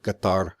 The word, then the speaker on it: Qatar: for how I'm pronouncing Qatar I know it's pronounced with a glottal stop Qatar but I'm not going